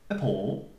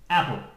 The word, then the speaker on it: appal: This little guy here shows you the stress. The stress doesn't mean that the word is stressed. No. It means that we say the syllable stronger. A paw. A paw. And not. Apple. Because it sounds like a fruit.